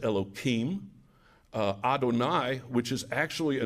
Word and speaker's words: Adonai: it in the context of prayers they will pronounce Adonai but when they are speaking of God outside